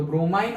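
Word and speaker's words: bromine: Okay तो ब्रोमाइन और ब्रोमीन दोनों प्रोनाउंस करते हैं, वो एक एक्सेप्शन है, याद रखना।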